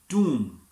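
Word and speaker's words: tomb: और थंब ए जाएगा टी ओ एम बी टॉम जिसे मक़बरा कहते हैं इसे टॉम नहीं कहना ये होगा टॉम और कब और बी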